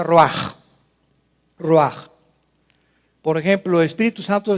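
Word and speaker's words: רוּחַ: Roach se pronuncia roaj.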